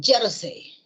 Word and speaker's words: jersey: Y por lo tanto es una palabra grave esta de acá. Vale la aclaración. Es jersey. ¿Ya? Ya está. Entonces, si lleva J es aguda.